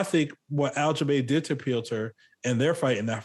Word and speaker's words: Piotr: Piotr.